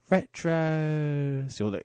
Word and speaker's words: Retros: Not retro, it's Retros. You'll know why later. If you're not sure how to pronounce that, obviously I've just said it out loud. It's not like it's on paper, but it's like Retros, but pronounced like Waitrose, but said with an air of mysticism and slight procrastination.